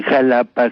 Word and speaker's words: Jalapa: En Jalapa se pronuncia como J y en Xola, que se escribe con X, se dice como con Che, como Xola.